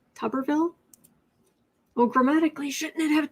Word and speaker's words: Tuberville: Autumn is pronounced like tub, wash tub, not tube. Tuberville. Tuberville?